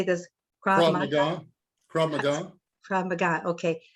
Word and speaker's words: Krav Maga: Krav Maga.